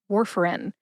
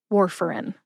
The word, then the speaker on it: Warfarin: Warfarin has 3 syllables. War as in World War II, fur like the fur on a dog, and in, as in the pills go in the bottle. Put all 3 syllables together and you get Warfarin. Emphasize war.